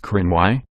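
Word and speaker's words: Cruithne: other the periodic planetoid is named crew 'the pronounced Crenn why after an ancient group of Scottish people also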